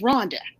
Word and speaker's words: Rhonda: and stuff like that, my name is Rhonda. That was my birth name, right? Rhonda. And they pronounced I'm in Italy, they say Ronda, right?